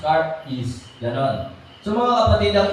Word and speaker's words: charis: Yun pong ibig sabihin ang spelling po nito charis c h a r i s Pero kung So kung i-pronounce car is ganon so Mga kapatid